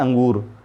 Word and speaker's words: अंगूर: अब देखिए ये स्वर आ है, आ के ऊपर बिंदी, तो अंग जब बोलेंगे तो आ के बाद जो बिंदी है उसका उच्चारण आएगा, तो अंगूर।